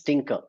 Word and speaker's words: Tkinter: the thinker so Tinker is nothing so it's pronounced as Tinker but it's not the spelling is different it's